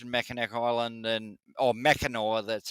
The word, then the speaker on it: Mackinac: I always pronounced it but yeah I so it's spelled yeah yeah I I recently learned that it was mackinore yeah and that you can get there with